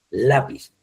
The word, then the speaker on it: lápiz: Si usted no le pone la tilde, el acento ortográfico, diría lápiz, y no es lápiz, es lápiz. Lleva la sílaba tónica en la letra A, lápiz, ¿ya?